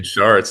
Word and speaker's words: Schartz: I'm joined today with Zayn and it's Sharts, right? Is it Sharts? Is that how you pronounce it? Zane Sharts.